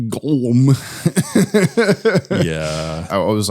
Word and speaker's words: Golem: his own hands through a glm construction robot pronounced goem yeah I was like